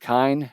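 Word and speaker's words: kine: Now, Nhema helps us understand kind rhymes with time, and kinder or cows.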